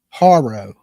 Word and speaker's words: Haro: It's spelled Haro, almost like the bike. Haro.